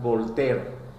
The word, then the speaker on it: Voltaire: Su nombre conocido más por todos será Volter. Voltaire se escribe.